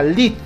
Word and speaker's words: lead: Pronunciando en inglés sería lead o entrada.